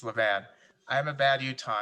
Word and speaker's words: Levan: yes so and i don't know how to pronounce this i remember thank you it's levan i am a bad utah and i haven't